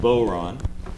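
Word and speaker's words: bodhrán: It's called the Boron, uh which is spelled B O D H R A N.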